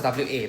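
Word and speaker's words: は: This W character over here, this is not W A is pronounced as W A. But the character that we write is not the WA, it's the H A one.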